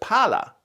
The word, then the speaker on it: pala: Lots of languages have long vowels, but Italian also has long consonants like Finnish. So palla means ball, but pala, with just one L, means shovel. So palla, palla. Can you hear the difference?